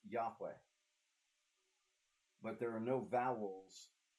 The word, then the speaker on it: Yahweh: the puzzling name yhw a name whose pronunciation is was the time because the Israelites won't speak it out loud we think it was Yahweh the Germanic transliteration of